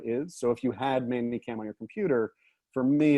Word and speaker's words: ManyCam: We pronounce it Manicam, but it's actually Manycam.